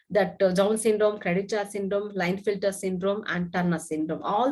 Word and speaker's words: Klinefelter: We can also pronounce that as Klinefelter, but K will be silent. So we can pronounce this as Klinefelter syndrome.